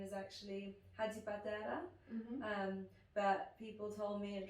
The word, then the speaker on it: Hadjipateras: up too and my last name is actually hadi padera but people told me at drama school it's gonna be difficult for people to pronounce it or remember it so i've gone